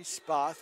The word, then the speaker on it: Spoth: I believe I pronounced his name with an A before. It's actually supposed to be Spoth, S-P-O-T-H.